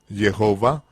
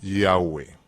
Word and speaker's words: Yahweh: Yova, que en inglés, por supuesto, lo pronunciamos mal como Jehová, porque naturalmente los americanos siempre pronuncian mal la J, el nombre híbrido Jehová,